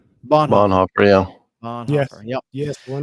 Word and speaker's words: Bonhoeffer: Bonhoeffer. Bonhoeffer, yeah.